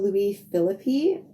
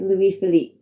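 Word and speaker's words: Louis Philippe: who in the episode I called Louie philippy I do know my pronunciation was completely wrong in my defense I just watched a movie with Ryan philippy in it so I guess he was on my mind a bit I am sorry for the mispronunciation it's Louis Philip moving on this chapter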